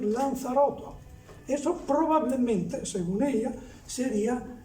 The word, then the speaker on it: Lanzarotto: Dulchert y también que posiblemente la Z se pronuncie como se pronuncia ahora en Canarias, es decir, Lanzaroto.